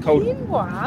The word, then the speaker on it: quinoa: Quinoa? Is it quinoa? Who are you? Is it quinoa? Quinoa is how Americans say it.